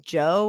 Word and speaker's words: Djo: End of Beginning by Joe. I think that's how you say his name. It's DJO.